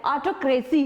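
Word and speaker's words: autocracy: तो उसको इंग्लिश में बोलते हैं ऑटोक्रेसी। क्या बोलना है आपको? ऑटोक्रेसी। ज्यादातर लोग इसको बोलते हैं ऑटोक्रेसी, लेकिन वो TO वाला टो नहीं, उसको ऑटोक्रेसी बोलना है।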